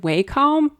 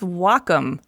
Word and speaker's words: Wacom: oh yeah is it waycom no wait Wacom no wakam no it's Wacom pronounced W like the Japanese word for Harmony and come for computer the Wacom cintique 16